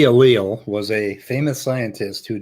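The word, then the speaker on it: allele: alele there so many what the reason I pronounce it as alil is because there's a very similar word in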